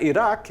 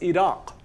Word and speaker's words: Iraq: It's why we spell the name of this country with a Q. It's not Iraq, it's Iraq. Iraq, with a nice hollow Q sound in the back.